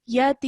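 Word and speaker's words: يتيم: end of this verse, you can elongate it for up to 6 seconds. So just to beautify your recitation, you can, if you would like, from 2 to 6 seconds, around that time, you can stretch it. Okay, so you can say yatim. You can say it as long as 6 seconds.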